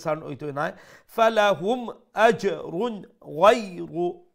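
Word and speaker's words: غير: হইতো নাই ফালাহুম আজরুন গায়রু লেটার গাইন মুলায়ম করে মুসলিম করে উচ্চারণ করবা গাইরু হইবা না এটা হইল কি গয় গয় গলার উপর অংশ থেকে উচ্চারণ হইব বাট একটার মধ্যে একটা মুলায়মতা থাকবো একটা নম্রতা থাকবো নরম করে উচ্চারণ হবো গয়রু গয়রু গ আমরা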